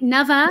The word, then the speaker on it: Nava: Am I saying it right? Nava?